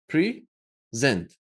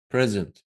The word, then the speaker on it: present: Because the word present has two syllables. Present. When you use it as a noun, you stress the first syllable, present. But when you want to deliver a presentation, you say, I'm going to present. See the difference?